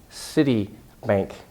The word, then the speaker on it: Citibank: you a city not see that city but City Bank City Bank it's really important and 14 I